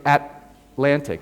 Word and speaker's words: Atlantic: At the end of a syllable, you would say Atlantic, or that's how I pronounce it, Atlantic. You don't release the T. You don't say Atlantic. You say Atlantic.